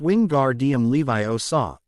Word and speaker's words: Wingardium Leviosa: arms like a windmill you're saying it wrong Harry heard her may snap its wing gar DM Levi o saw make the gar nice and long you do it then